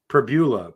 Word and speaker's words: Pribula: It was it's Pribula.